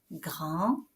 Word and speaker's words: grand: au masculin ou bien un D à grand à la fin du mot grand qui ne va pas bien sûr se prononcer au masculin, mais qu'on va faire prononcer au féminin, petite, grande.